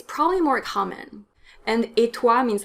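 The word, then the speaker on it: et toi: means you in french a lot of people say a true in french which is incorrect because tu is a subject pronoun that means it needs to be connected to a verb and there is no verb in the question how about you in french etois so you need to use a stressed pronoun how about me would be emua and how about you is etua when it's informal come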